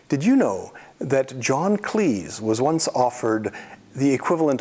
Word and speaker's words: Cleese: "For heaven's sake," he said, It's pronounced 'Cleese,' like 'cheese.'